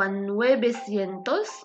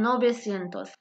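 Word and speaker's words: novecientos: اوتشو سينتوس والرقم 900 خصه يكون هو نويسينتوس ولكن كيتقال نوبيسينتوس يعني الرقم 500 700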